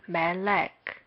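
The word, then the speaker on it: מלך: is written like this the first vowel is Shagal and the second vowel is also shekel here we mark men with em and shekel with e la med with L shekel with E and lastly cup with K we read this as Malik this means King in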